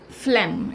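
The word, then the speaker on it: phlegm: सैट इज द कि फिल्म इसको जी जो यहां पर साइलेंट होता इसको फ्लैम पड़ते हैं तो यह चार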